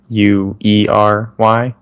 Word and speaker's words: Bruery: I just learned that the name of that brewery, the Bruery, it's Bruery, right? Yeah, they spell it funny.